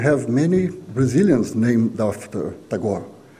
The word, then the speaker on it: Tagore: And curiously, when I was searching for some data about Tagore in Brazil, I found out that we have many Brazilians named after Tagore. We pronounce, by the way, don't pronounce Tagore, we pronounce Tagore.